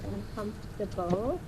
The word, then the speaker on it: uncomfortable: TR um Quang just practice this word uncomfortable uncom comtable that's how we say uncomfortable and advice so I